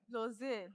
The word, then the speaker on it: Lozile: Is it Lozile or Lozele? Lozile. Lozile.